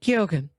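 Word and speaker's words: Keoghan: that that character, the son is played by Barry Kogan. Is that how you say his name? Um you Yeah, you pronounce the G very gently. Kyogan.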